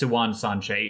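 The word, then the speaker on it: Siuan Sanche: her name when she's like delirious she goes silwan and it's pronounced siwan sanchez in the audiobooks at least hey uh i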